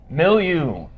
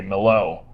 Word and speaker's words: Milieu: It is pronounced Milieu. I had to confirm with Dan Chacon because I had no idea how to pronounce it. I was going to say Milo.